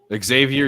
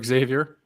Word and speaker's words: Xavier: surprised to know that when you pronounce xav it's actually a z Xavier Xavier yeah thank you for that